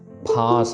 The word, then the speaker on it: फांस: सो फ नहीं करना इसको हमने पढ़ना है फांस फफा।